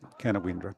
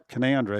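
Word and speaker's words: Canowindra: And the number of people who'll come in and they'll say Canowra because that's how it's spelled. Yeah. As simple as that. And I say, no, Canowra as in Caloundra up in Queensland.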